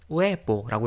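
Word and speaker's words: huevos: 하나가 이제 노세 우에보스에서 이 아체, 영어의 H에 해당하는 이 아체는 소리가 절대 안 납니다. 그래서 항상 얘는 그냥 무시해주면 되고, 읽을 때. 또 영어랑 또 차이점이, 이제 영어는 B하고 V하고 발음이 다르잖아요. 근데 스페인어는 둘이 똑같아요. 그래서 둘 다 우리말의 비읍처럼 읽으면 됩니다. 그래서 얘는 우에보라고 읽으면 되고요.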